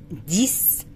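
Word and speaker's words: dix: ديس الاكس هنا هو تدينا صوت الاس. ديس دو ديس.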